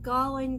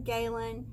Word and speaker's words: Galen: to the guys about how they pronounce it galling Galen they're okay with however we choose to pronounce it that's what they told